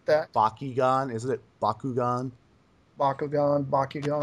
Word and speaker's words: Bakugan: kind of trying to borrow technology from like Bakugon and such which is kind of neat I like that Bakugan isn't it Bakugan Bakugan Bakugan I speak Japanese